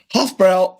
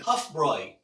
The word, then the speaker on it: Hofbräu: and we're going to do it today with Hof brow Octoberfest beer one of the what it's wrong what do you mean you you mispronounced it I'm pronouncing it wrong you're pronouncing